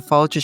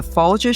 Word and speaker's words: Folger: We also thank Collehleen Kennedy, senior communications manager for the Fulier Shakespeare Library, who arranged our meeting with Heather.